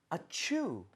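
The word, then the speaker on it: achoo: 뒤에 O에다 강세를 좀 주면서 억양을 네. 주면서 아추, 아추. 아추, 아추예요, 어추예요? 아추. 그러니까 어보다도 뒤에 추가 강세가 많이 올라가게 돼서 그런 식으로 발음이 되는데 이건 사실은 자, 이 발음은요.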